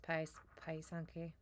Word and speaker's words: pysanky: was kind of cool it's actually kind of pronounced pi sanke but i don't pretend